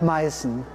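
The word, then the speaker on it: Meißen: address the name confusion you hear the term mycen porcelain but sometimes also dressed in china now both the town and the porcelain are called maison but while the town is spelled with an s-set a letter unique to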